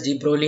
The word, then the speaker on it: de Broglie: You can pronounce it as de Broglie hypothesis or de Broglie hypothesis. So you can take the chance.